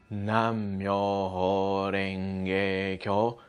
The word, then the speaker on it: Nam-myoho-renge-kyo: is great of course at first it may take a while to get used to the pronunciation so you can start off slowly like this nam-myoho-renge-kyo nam-myoho-renge-kyo nam-myoho-renge-kyo nam-myoho-renge-kyo